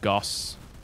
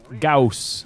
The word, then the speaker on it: Gauss: though I just got Goss Gauss not Goss people always correct me